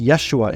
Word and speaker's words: Yeshua: Name is pronounced Yeshua in Hebrew, spoke Aramaic.